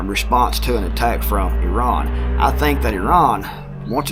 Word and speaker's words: Iran: with Iran, or Iran, which is actually pronounced, I say Iran or Iran, depending on how my brain's working for that day. But it's actually pronounced Iran.